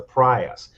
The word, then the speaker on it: Prius: called the Prius and that's not the that's not what it's called it's actually pronounced the prias because if that thing's in a wreck you're GNA have to prias out of it yeah that's true uh